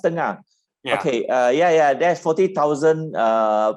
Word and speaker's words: Tengah: I personally is interested in sustainable smart town Tenga in Singapore. Do you know that? Sustainable smart town Tenga. Sorry, I didn't get the last part. Tenga? Tenga. Yeah. No. Tengah. Oh, Tengah. Oh, it's pronounced Tengah.